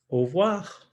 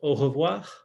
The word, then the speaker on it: au revoir: Au revoir. And you'll notice I almost swallow that first r, right? So you could pronounce it au revoir or au revoir.